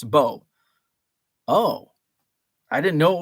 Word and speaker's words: Beau: a youth and uh my name is bo spelled b-e-a-u uh many people don't know that spelling like and they're like uh what what's your name it's bo oh i didn't know